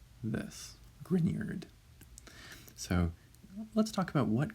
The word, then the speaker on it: Grignard: So the second G there in front of the N is pronounced like a Y coming after it. So really that's pronounced more like this, Grignard.